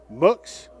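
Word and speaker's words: Mooks: Le says, "Go Muks pronounced Muks." Like books.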